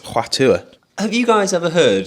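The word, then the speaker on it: Hua Tuo: I can, I've told you, it's Huatua.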